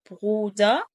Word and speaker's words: Brüder: يبقى der Brüder Brüder. قلد بقى النطق، هنا البايشبيلة دي تفضل تقلد فيها.